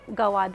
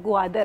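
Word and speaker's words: گوادر: है हवा का दरवाजा तो गवाद नहीं है ग्वादर हैदर क्योंकि बलोची में ग्वाद का मतलब हवा और दर मींस दरवाजा तो जब कोई कहता है गवाद जिन्होने स्पेलिंग इसके बनाए ना वो भी गलत बनाए वो ग्वादर ही बनाया ग्वादर नहीं बनाए तो इसे बेसिकली ग्वादर ही कहते हैं तो ऐसी कुछ कुछ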